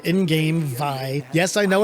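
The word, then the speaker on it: Vay: So here's Vey, or as they say in-game, Vi. Yes, I know it's pronounced that way, but I always hated it.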